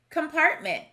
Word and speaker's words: compartment: Starting with the first syllable, we have come, part, mint. So the word is compartment.